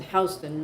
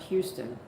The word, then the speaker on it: Houston: You pronounce it house, not Houston.